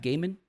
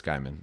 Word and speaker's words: Gaiman: It's one of my favorite That's how you pronounce his last authors. name? Yeah. It's not Gaiman? I'm sure it's Gaiman.